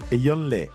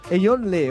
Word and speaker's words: Eyo Nlé: Nous aurons Che Soudaka sur la grande scène, nous aurons Eo, la fanfare Eoley, c'est comme ça qu'on prononce Etyon Yonle. Eyonle. OK.